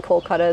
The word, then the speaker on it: Kolkata: It used to be Calcutta. It was originally Kolkata, then the Brits came and changed it to Calcutta, and now all these Indian cities are going back to the original pronunciation, so Kolkata, and that's where my family originates from.